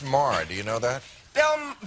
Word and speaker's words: Maher: or even sink please welcome the wonderful bill Mayer fighting Thank You it's pronounced Mar do you know that bill bill oh my